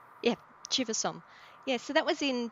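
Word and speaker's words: Chiva-Som: Shiva Psalm? yeah, Chivasom.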